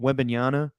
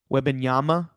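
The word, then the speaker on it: Wembanyama: just got you know webiniana um he already pronounced his name wrong attaboy how do you say it it's when benyama webinyama Yama like like like uh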